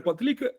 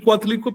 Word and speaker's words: Coatlicue: Cuando posees cue, la falda, ya no se pronuncia Cueitl, porque al poseer le quitas el sufijo nominal, la TL del final y la I en este caso, y se queda en Cue.